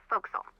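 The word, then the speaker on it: forecastle: ship but it's pronounced folk song why is that try pronouncing it like an English sailor with no formal education bow Castle over time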